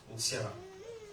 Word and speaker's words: N'Siala: Toi, c'est peut-être Toukouré, toi, c'est peut-être Edmond, moi, c'est Ntiala. C'est pas Intiala, c'est pas Ntiala, parce que j'ai pas la N. C'est N apostrophe, Ntiala.